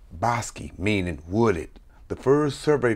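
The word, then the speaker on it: Bosque: where early Spanish explorers bestowed the names bosi pronounced bosi meaning wooded the first survey for land grants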